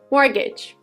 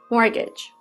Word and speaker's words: mortgage: the next word is mortgage mortgage mortgage it is a type of loan that you get to buy a house it has a letter T which is silent and is not pronounced mortgage they took out a